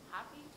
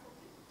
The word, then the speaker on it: Hopi: Is it Hoppy? San Carlos, San Juan, White Mountain. Is it Hopi? Yeah, Hopi.